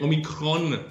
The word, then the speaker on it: Omicron: Beh sì, qui diciamo che Omicron, come la chiamano qui con l'accento sulla O, fa paura come in Italia, quindi sono tutti chiusi.